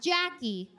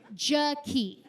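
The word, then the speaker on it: Jakee': Not Jackie, Jaki.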